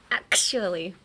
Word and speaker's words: actually: That sounded like a sneeze. Actually. So, yeah, when you sneeze, I think you can pronounce actually. So whenever... it's allergy season in Japan, actually, right now. Spring in Japan is terrible because there's so many things in the air. So yeah, go outside, sniff the air, sneeze, and try to pronounce actually.